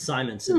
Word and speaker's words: Simonson: And uh RDV, that's a great Walt Simmonson cover. That's Simonson, dude.